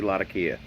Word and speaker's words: Latakia: wide and enhanced with cool smoky Lata Kia or Latakia depending on where you're from in the world and how you pronounce that fine cut matured Virginia's